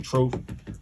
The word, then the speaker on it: Truf: follow me at truth city uh truth city is spelled t-r-u-f-c-i-t-y i spell my name truth t-r-u-f um i'm down on all social media